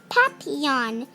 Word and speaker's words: papillon: like our neighbor's dog you say it like this papillon in french it means butterfly i help mrs divine